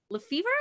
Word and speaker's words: Lefevre: And that's Allie Lefevre. Did I say that right? You said it right.